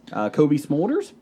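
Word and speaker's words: Cobie Smulders: Kobe Smulders, she will be there.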